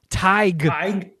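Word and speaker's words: Tadhg: my stupid ass but here is the proper pronunciation of t-a-d-h-g hi Irish name meaning a power or a philosopher I'd tiger like t-y-g that was on my uh my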